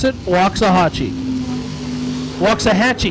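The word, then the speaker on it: Waxahachie: pronounce it wa aachi walks a Hatchy you told me wrong you said you said Hatchi it's Hatchy I tell you what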